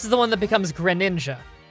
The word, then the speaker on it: Greninja: And this is the one that becomes Greninja.